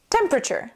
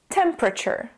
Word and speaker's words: temperature: we end up saying temperature in the second syllable we drop the e completely and we add awah